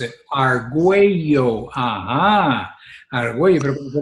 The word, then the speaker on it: Argüello: Sí, eso que dices, yo tuve que hacer en varias ocasiones el de hacer Arguayo. Y así, Sí. that's the way you pronounce it. Arguello, ajá, Arguello, pero cuando te lo ponías ahí con la diéresis de la LL, pues, se perdía.